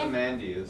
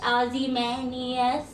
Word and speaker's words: Ozymandias: I probably pronounced that wrong. How do you say your band name again? Ozymandias. Ozymandias.